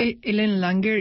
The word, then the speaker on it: Ellen Langer: Ellen Langer is ELLEN, Langer, L...